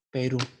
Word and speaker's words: Perú: Por ejemplo, aquí tenemos la palabra Perú y notamos que la sílaba RU es la que tiene la tilde sobre su vocal U. Entonces, ¿esto qué nos indica? Que al momento de pronunciarla tenemos que enfatizar la sílaba RU, quedando así Perú.